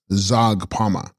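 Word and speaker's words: Zhags-pa-ma: Text Hagspama, pronounced Zagpama, Sanskrit Pashadari, she holding the noose, the Shakti of Yamantaka.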